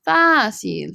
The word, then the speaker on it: fácil: Difícil, difficult or hard, versus fácil. Fácil, easy, okay? Fácil, easy. Notice the accent on the A. Please make sure you write that down.